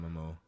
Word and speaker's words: Momoa: I'm not checking for Jason Momoa.